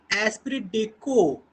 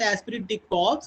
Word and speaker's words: esprit de corps: Alright, the corporation and एस्पिरिट डेको। Okay, this is again a French phrase और इसका pronunciation है एस्पिरिट डेको। Okay, it इज नॉट एस्पिरिट डे कॉर्प्स, इट इज एस्पिरिट डेको।